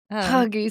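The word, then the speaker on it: hygge: talk to you all day about Huggy season.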